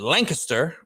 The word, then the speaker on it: Lancaster: He is a Lancaster, they pronounce it Lancaster, Pennsylvania native.